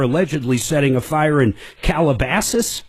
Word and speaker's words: Calabasas: setting a fire in Calabasas. I think I'm pronouncing that right, that's near right. Beverly Hills. That's right, Calabasas.